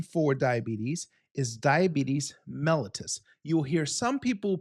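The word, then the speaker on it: diabetes mellitus: Now the official name for diabetes is diabetes melatus. You will hear some people pronounce that as diabetes malitis. I want you to pronounce that as diabetes melllois.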